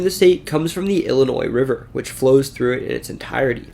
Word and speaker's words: Illinois: newek and when the French arrived to the region they pronounced the Ojibwe word illiniuek as ili Noir which later American settlers then pronounced Illinois because of this the